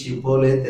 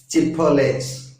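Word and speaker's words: שיבולת: அதே போல எப்பிராயிமர் எபிரேயராக இருந்தாலும் கூட அவருடைய அந்த நாளிலே உச்சரிப்பு சற்று வழக்கத்தில் மாறுபடுகிறதாக இருந்தது. இப்போ கீழையாத்தியார் சொல்றாரு, நீ ஷிப்போலேத் என்று சொல்லு. எப்பிராயிமன் சொல்றான் சிப்போலேஸ், சி போடா என்று சொல்லி அவர்களை அங்கே கொலை செய்கிறார்கள்.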